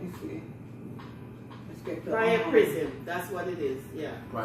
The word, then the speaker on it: Priapism: Can you pronounce it's prior prism. Let me see. Let's get the Priapism.